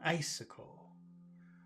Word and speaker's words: icicle: syllable gripping where's the accent in icicle it's the first syllable gripping an icicle like gripping an icicle